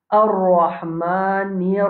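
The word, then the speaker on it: الرحمن: Deuxième verset, c'est Ar-Rahmanir Rahim. Ar-Rahmanir Rahim. Ça, nous finissons dans Basmala. Quand nous finissons explique-li. Ça, ra qui est dans Ar-Rahman, la bouche pleine. Ha, nous devons bien prononcer. Ar-Rahman. Après, nous avons Ar-Rahim.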